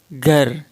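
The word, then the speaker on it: گھر: itu adalah rumah Hai Jadi bukan gear atau gear bacanya agak Fatah tapi Fatah yang agak samar-samar ke Ghar Ghar makanya mushonnif tulisnya pakai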